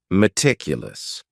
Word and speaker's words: meticulous: word is metic and this word has four syllables and the stress is on that second syllable meticulous that first syllable also has that sha sound that reduced vowel sound meticulous this is another